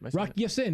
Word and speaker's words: Rock Ya-Sin: But Will Fuller was being shadowed by Rock Ya-Sin. Is that how you pronounce that? Rock Ya-Sin, yeah.